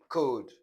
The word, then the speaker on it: could: So let's look at the silent L, that is, you not pronounce the sound in these words. So, palm, bam, sam, walk, talk, stalk, yoke, should, could, would, folk, and so on.